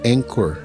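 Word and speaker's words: Anchor: poderosas no podcast chamado meditando que está no em cor ponto fm barra meditando em cor se escreve a n c h o r tá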